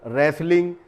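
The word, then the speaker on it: wrestling: इसी तरह से ये सारे वर्ड्स हैं जिसमें रेसल, रेसलर, रेसलिंग यानी कुश्ती का अगर कोई गेम होता है, मैच होता है, तो उसको रेसलिंग कहा जाता है। वहाँ पर भी ये वर्ड जो है टी साइलेंट होता है।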